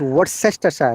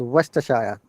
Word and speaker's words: Worcestershire: People think it is Worcestershire. No, it's Worcestershire. Okay. Worcestershire.